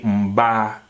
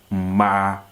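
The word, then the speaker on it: mmaa: Ghanaians who speak Twi, they will say mba. That is not correct, right? It's not correct. The right pronunciation is what? Ma, and that is what?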